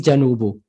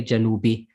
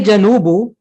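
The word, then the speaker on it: جنوب: related thing however um the standard is janubo janubo but in colloquial perhaps in some countries they might change it and say janubi just for perhaps for the sake of it's easier to pronounce okay but if you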